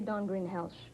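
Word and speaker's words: Dawn Greenhalgh: Don Greenhall. Am I pronouncing her name correctly? How do you say it at home? At home we say Don Greenhelch.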